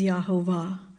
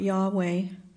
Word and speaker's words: Yahovah: vowel markers showing that the pronunciation is Yahovah and not Yahweh, as the lesson states.